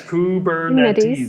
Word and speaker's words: Kubernetes: I know how to say it. Yes, Kubernetes. Yes.